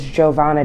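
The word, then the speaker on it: Jo'Vonna: Okay, may you please state your name and spell it for me? Okay, my name is Giovanna, and that is J-O apostrophe capital V O-N-N-A.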